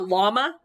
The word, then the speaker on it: llama: right from south america that double l tells me we don't call it a yama we call it a llama that word right there is a peruvian word not a spanish word that's why we have that la sound llama versus yama because that right there not the same thing yama peruvian it's a quechuan word the high andes um and it's using its original quechuan pronunciation so yama but normally